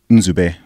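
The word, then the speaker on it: Nzube: really yeah my until my first name is in zoo Bay whoa which is spelled n z ube so that's actually two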